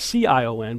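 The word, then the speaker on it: Sion: got this car as cion but it's pronounced the same way and you've got these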